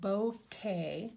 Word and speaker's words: bokeh: going to be doing a technique called it's pronounced bow K and it's spelled b-o-k-e-h it's a really interesting